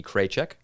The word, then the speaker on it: Kraychek: It's actually going to be posted to YouTube thanks to the wonderful producer Katie Kraychek, rhymes with paycheck.